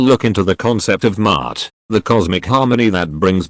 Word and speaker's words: Ma'at: Pronounced Ma'at, this single word encompasses a vast tapestry of ideals: truth, justice, balance, order, harmony, law, morality, and cosmic rightness.